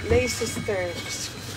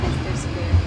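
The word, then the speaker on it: Leicester Square: L sisters. Tama ba yung pronunciation? Mali. Ano? Ano ang pronunciation? Ling hawakan mo na to. Ano ang pronunciation non? Last ano? Lester Square.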